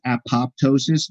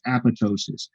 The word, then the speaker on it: apoptosis: A lot of people mispronounce it as apoptosis, but the second P is actually silent. It's apoptosis. And apoptosis is programmed cell death.